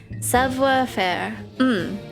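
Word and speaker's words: savoir-faire: Savoir faire, meaning know how to do, pronounced more like savoir faire.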